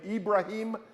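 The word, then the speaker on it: إبراهيم: was given to Abraham you pronounce that name ibraim in is in in Arabic or in Islamic tradition but it's an inheritance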